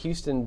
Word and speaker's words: Houston: to go to East Houston Street, and she got there and she looked at the sign. She's like, Houston. I'm like, no, Houston. That's the way you pronounce it.